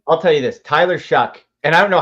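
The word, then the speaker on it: Shough: I'll tell you this, Tyler Shuck. And I don't know how you why his name is pronounced Shuck because it's spelled sh H O.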